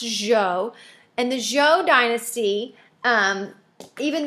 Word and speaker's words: Zhou: And I understand that this looks like Zhao, but it is actually pronounced Zhou.